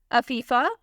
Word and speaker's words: Afifa: तो पहला नाम है अफीफ़ा। बहुत प्यारा नाम है, स्पेलिंग है AFIFA।